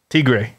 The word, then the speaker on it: tigre: You got to roll your R's more when you say tiger. Tigre.